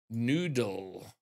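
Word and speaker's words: Newdul: It's spelled N-E-W-D-U-L, and I'm pretty sure I remember casting him before. I think it's pronounced Noodle rather than New Dull.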